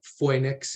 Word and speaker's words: Phoenix: of three heroes Ajax Phoenix and or Fenix is another pronun pronunciation I've heard and Adysius and for